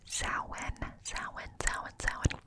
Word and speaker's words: Samhain: But Samhain, it's spelled Samhain, but it is pronounced Samhain.